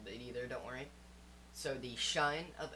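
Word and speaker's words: sinh: into hyperbolic trigonometry so the hyperbolic function of sine it's actually pronounced shine I don't understand either don't worry so the shine of X and that's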